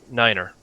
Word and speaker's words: nine: ] Nine's is said like Niner you do not have